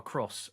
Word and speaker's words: Cros: I found out, by the way, Joe, why it's Jean-Baptiste Roux and Francois Cross, and you pronounce the S on that.